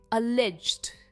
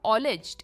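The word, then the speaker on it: alleged: national government next is अ लेज्ड अ लेज्ड इट्स नॉट ऑलज्ड इट इज़ अ लेज्ड अलेज्ड और लेज्ड पर इसका stress से अलेज्ड अलेज्ड यानी कथित क्लेम्ड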